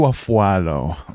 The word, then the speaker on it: Afualo: Afualo? How do you pronounce it? Drew Afualo pronunciation. Drew Afualo. Drew Afualo. Ooh, it's Drew Afualo.